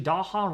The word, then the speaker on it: Daha: And actually, Daha rhymes with Taha. I love that name, actually. Daha, Taha.